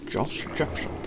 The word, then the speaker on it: Josh Jepson: Josh Jepson, Mr. Bond. That's how you say his name, Josh Jepson.